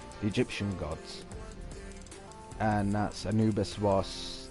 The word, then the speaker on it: Anubis: with me and then he's like it's annabes and then so the second teacher then put it on the screen on like he put in how to pronounce and cannabis and basically actually said anubis and then i felt